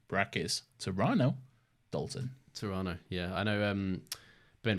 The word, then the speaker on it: Toronto: Lads much love from Toronto brais torano Dalton Toronto yeah I know um Ben from Canada gets gets quite excited when people say Toronto instead of Toronto so the the middle T yeah yeah it's like